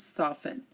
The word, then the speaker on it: soften: Asma Christmas mortgage and soften again Asma Christmas mortgage soften we are not pronouncing the T in any of these words these are all these are also common words that you know